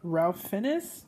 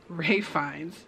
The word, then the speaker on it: Ralph Fiennes: work with someone that i used to call him ralph finnis because they thought that was how you pronounce it and obviously that's incorrect so those are my top five ray finds movies so let's check